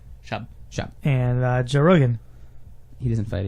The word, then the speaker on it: Schaub: Shuhab, yeah, he doesn't fight Shuhab. though. He hasn't fought in like years. How do you say that? Schaub. Schaub? Is it Schaub? Jake Brown. It's like a noise. Shop.